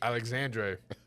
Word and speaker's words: Alexandre: Alexandre. That's how you pronounce it in Brazilian.